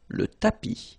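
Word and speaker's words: tapis: one more time tapi remember final s not pronounced tapi so in the previous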